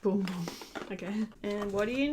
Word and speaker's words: Bum Bum: out this one says here's the tea it's pronounced boom boom okay and what do you know we've got